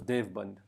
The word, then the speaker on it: Deoband: used it so much it became deoband or as or pronounced as Dev band so it actually has